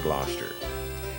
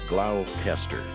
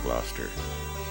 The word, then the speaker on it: Gloucester: air now we're entering gloucester if i were to pronounce it the way it's spelled it would come out glaucester but then when you're